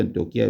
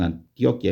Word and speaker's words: Antioquia: por antio o antioquía yo Generalmente pronuncio antioquía dicen Antioquia en Colombia y aún por Bogotá